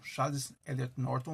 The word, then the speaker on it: Charles Eliot Norton: E, em 84, Harvard convida Ítalo Calvino, primeiro escritor italiano, desde 1926, a ser convidado a ser um Charles Eliot Norton Lecturer. É assim que se pronuncia, o palestrante das Charles Eliot Norton Lectures.